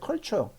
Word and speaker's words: culture: culture 나눠서 읽어요. 이걸 읽어보세요. 컬이잖아요. 추어는 TUR은 무조건 추어로 읽으면 돼요. culture 되잖아요.